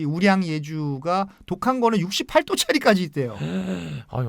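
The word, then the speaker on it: 五粮液: 그리고 이제 오량 액주라는 게 있는데 중국 발음은 이제 우량 예주라고 하는데 쓰촨성의 대표적인 명주입니다.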